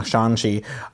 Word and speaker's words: Shang-Chi: No, Shang-Chi, Shang-Chi, you pronounce the A like a U. Yeah, Shang-Chi.